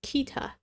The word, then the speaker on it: Kita: Okay, I'm back and apparently on the website I looked at it says Kita.